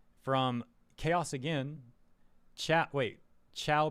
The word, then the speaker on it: Chao: Chat wait, Chao pronounced Chao are creatures Yeah, I know.